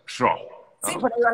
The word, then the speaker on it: Schorh: Y bueno, gracias, Schro, creo que se pronuncia así, ¿no? Sí, sí, Por ahí va la cosa, sí, Schro, sí, ¿no?